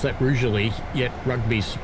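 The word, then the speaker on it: Rugeley: I'm still thinking about that cuz they're cheap as Rally. Trent Valley coming up next. It's funny, isn't it? You pronounce that roually.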